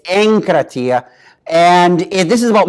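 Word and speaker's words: ἐγκράτεια: is anchor Tia and the little gamma here is normally a hard G but when it comes before a K its anchor Atia and if this is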